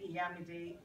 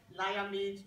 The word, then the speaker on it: Iyamide: the reason I asked she pronounced my name yamid exactly right because I get all sorts of pronunciation from lamid toam all kind but when I gave